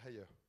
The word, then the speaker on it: Haier: Donc la prononciation c'est Ayer. On va le dire une fois et puis après je vais le prononcer à la française, ça sera très bien.